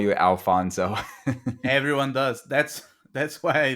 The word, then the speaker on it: Afonso: just adopted it and put the L is silent in the front, but because a lot of Spanish communities and people from the U.S.